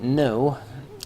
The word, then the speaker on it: know: Next up, let's look at no and no. One has two silent letters, the other has none. Our first one, with a K, is a verb to understand, to have knowledge of.